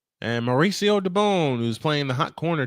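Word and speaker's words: Mauricio Dubón: Mauricio Dubon is the correct pronunciation.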